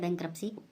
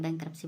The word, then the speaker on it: bankruptcy: अगला है बैंक्रप्सी, टी बोलना नहीं जाएगा, जो मतलब इसकी प्रोनाउंसिएशन होगी उसमें बैंक्रप्सी बोला जाएगा, BANKRUPTCY।